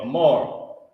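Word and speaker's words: אמר: Amar. That's how you pronounce it.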